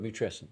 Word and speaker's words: matrescence: So and it's spelled like adolescence, but matrescence.